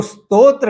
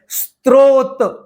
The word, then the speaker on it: स्तोत्र: जो स्तोत्र शब्द है इसको कई लोग गलत उच्चारण करते हैं। कुछ कुछ लोग इसका उच्चारण करते हैं। स्त्रोत जहां र नहीं है वहां र जोड़ते हैं और जहां र है वहां जोड़ते नहीं है। स्तो में र नहीं है उसको स्त्रो पढ़ते हैं।